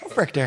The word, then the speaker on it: Hofrichter: Hofrichter.